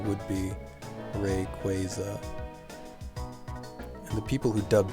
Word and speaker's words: Rayquaza: and i yeah i'm pretty sure it should be rayquaza just based on how it's spelled and that's i believe how they say it in the anime but that's pretty shaky